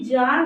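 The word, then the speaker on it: czar: पे साउंड क्या निकलेगी जार निकलेगा अब ये सी साइलेंट हो जाएगा और जड ए आर क्या निकलेगा जार निकलेगा ऐसे ही ये सी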